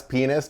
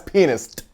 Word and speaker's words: pianist: the way pronounce they like jazz penis time like like you make sure that T put that T in there jazz pianist I'm trying I'm good well done